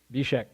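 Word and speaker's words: Zbyszek: You pronounce it Bishek.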